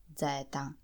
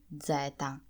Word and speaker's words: zeta: In Italian you call the letter Z, Zeta, Zeta, Zeta. The pronunciation of this consonant can vary from region